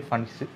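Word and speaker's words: Pfund: तो ज़रा देखिए, पहली जो लाइन होगी लाइमन, दूसरी बामर, तीसरी पास्टन, चौथी ब्रैकेट और पांचवी फंड सीरीज़ कहलाएगी। पी साइलेंट होगा।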